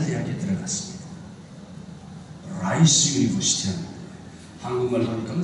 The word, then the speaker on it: Rice: 여러분 발음 조심하세요. 라이스는 쌀이죠. 라이스는 이예요. 이. 가벼운 이. 미국 가서 Where is Rice University? 잘못하면 혼납니다. 이를 기르는 대학교는 없습니다.